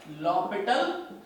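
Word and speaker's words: L'Hôpital: हॉस्पिटल नहीं होता है, pronounce as L'Hopital rule.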